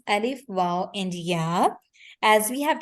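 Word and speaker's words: و: But again, waw is going to be pronounced from our oral cavity only when it is going to be madda. Only when we are going to stretch the sounds of the waw.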